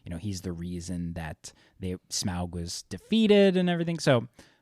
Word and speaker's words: Smaug: Smaug? How do you know it's Smaug? Because Tolkien has whole appendices on how to pronounce things. It's a diphthong. Yeah, Ow. Ow.